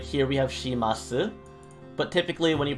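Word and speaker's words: します: like here we have shimasu but typically when you pronounce it it's shimasu the the u sound gets dropped and like words like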